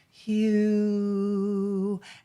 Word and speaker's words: HU: And we do share the Hugh song. That I think is important for your listeners to understand that it's spelled H-U, and it's for anybody of any religion, faith.